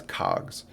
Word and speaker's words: COGS: and subtracting out your cost of goods sold or what's often pronounced as cogs you take your Revenue